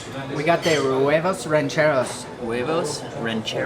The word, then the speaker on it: huevos rancheros: huevos rancheros.